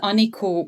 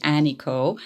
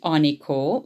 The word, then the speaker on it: Anikó: My name is Anikó, and this is the Hungarian pronunciation. You might hear there's a difference when I say my name in English. That would be Anikó.